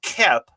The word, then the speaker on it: Koepp: And I always spell her name out because it's pronounced Kep, but it's like, I thought it was Cope when I first saw it.